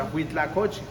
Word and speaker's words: huitlacoche: The huitlacoche. Yeah. It's a difficult word to pronounce, and you do it well.